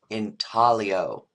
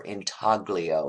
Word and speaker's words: intaglio: The 3 different categories for printmaking: relief, planography, and intaglio, or intaglio is the way it looks like it's spelled.